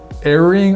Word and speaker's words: erring: So the first thing to kind of think about is erring on the side of the lens being too light is better than erring. Is erring the right way to say Erring that? is perfect.